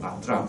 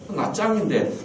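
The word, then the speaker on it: Nha Trang: 낫드랑. 근데 그게 사실은 틀린 겁니다. 낫짱입니다. TR을 붙여가 쓰로 발음하거든. 쌍지에서. 낫짱인데 지금도 보면 낫드랑이라 그러는 사람이 굉장히 많아요.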